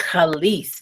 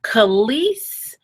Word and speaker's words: Kelis: And pronounce it? Kelis. Kelis, that's right. Kelis has decided to do something very different with her hair.